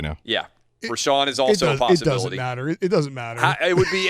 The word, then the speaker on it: Richaun: research right now yeah we're Sean is also it would be interesting if we're sean is pronounced were Shaw and given that it starts rich RI CH aun alright so this guy